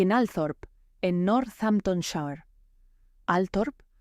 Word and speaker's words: Althorp: Althorp, pronunciado Oltrop por la propia familia Spencer, se convertiría con el tiempo en la sede ancestral de la dinastía.